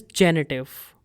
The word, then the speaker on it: Genitiv: And fourth case is genitive in German, genitiv. So make sure when you're pronouncing these words, there is F sound at the end. Nominativ, Akkusativ, etc.